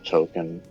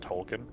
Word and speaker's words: Tolkien: Oh, token. Da-da-da. Okay. I believe it's pronounced Tolkien.